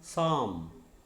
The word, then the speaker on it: psalm: Okay, PSALM, psalm. P is silent.